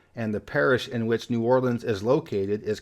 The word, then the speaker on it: New Orleans: so what about the Big Easy the proper pronunciation is New Orleans I think there are some older folks that say New Orleans but nobody says New Orleans or nawlins but in a plot twist Louisiana doesn't have